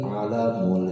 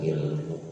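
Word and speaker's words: عَلَم: Wis ngadawuh sapa Rasulullah sallallahu alaihi wasallam ing hadis, dzikrullahi alamul iman, utawi zikir dening Allah, alamul imani iku benderane iman. Bacanya alam, bukan ilmu.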